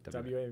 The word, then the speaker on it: WA: a few minutes that you did with the WA Meadworks? Did I say it right? Yes. WA? WA Yep.